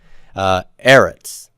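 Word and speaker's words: אֶרֶץ: Eretz has first syllable stress, and therefore there's an accent mark there for earth or land.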